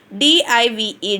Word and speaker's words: dive: See, we will pronounce I first vowel. No, we will pronounce same sound means I. For second vowel, no sound. We should not pronounce the second vowel.